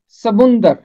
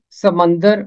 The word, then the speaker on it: سمندر: اس کا تلفظ ہے سمندر، اس کا تلفظ سمندر نہیں ہے۔ خوش قسمتی سے بائبل مقدس میں ہمیشہ میم کے اوپر پیش ہے، سمندر، ساحل سمندر، سمندر